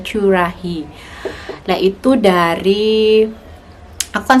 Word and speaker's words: Currahee: Terus belakangnya itu dikasih Curahi ya bacanya. Tapi teman-teman biasanya bacanya Curahi, tapi yang aslinya itu bacanya Curahi.